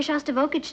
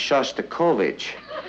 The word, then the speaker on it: Shostakovich: he's taking me to hear shots to voltage tonight honey I think that's pronounced Shostakovich we would like to